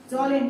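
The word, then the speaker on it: Kjølen: जॉलेन, के साइलेंट रहेगा, के से लिखा रहेगा स्पेलिंग।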